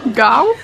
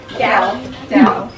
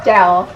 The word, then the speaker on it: jaew: I'm not sure exactly how to pronounce it. Gao? Jaew. Say again? Jaew.